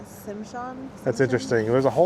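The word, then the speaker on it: Tsimshian: The pole represents all 3 tribes of Southeast Alaska, Tinglet, Hadia, and Tishimchan. I'm totally going to pronounce that wrong, so 100% sorry about that. The T silent, Simshan.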